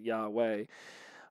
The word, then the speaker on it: Yahweh: they say yahweh but it looks a lot like yeehaw on the screen but they pronounce it yahweh i'm from the country